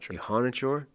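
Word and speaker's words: Iheanachor: Ihanichor, I believe is how you're supposed to pronounce that as opposed to how we've been pronouncing it.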